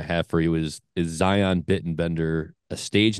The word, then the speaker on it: Zion: Mount Zion but um I pronounce it Zion like Lion but with a z but um but that's